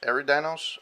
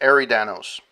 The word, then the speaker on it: Eridanos: on aaron aaron danos every dinos i don't know i actually never know if i spell it right or not um it's arie danos there we go and uh this was